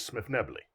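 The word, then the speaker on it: Svirfneblin: Oh, we would pronounce it Smith Nebley.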